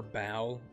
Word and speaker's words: Baal: It's been a while since I did play the Baal faction. Or Baal, I guess it would actually be pronounced, but we don't pronounce things right here.